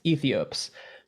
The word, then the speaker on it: Aethiopes: Yeah, the record is spelled Aethiopes, Ethiops.